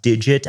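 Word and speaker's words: degit: be using something called I believe it's pronounced digit I haven't heard anybody say this a lot before sometimes that's the thing it's de GI T to get to get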